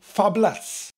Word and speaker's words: fabulous: a fabulous well actually in Wales we'd say absolutely fabless because fabless fabulous has two syllables fab laughs we do that a lot in Wales we drop a syllable we do that with lots of words and can't think of any of to top my head but we do and fabless is one of them number 26 half-and-half is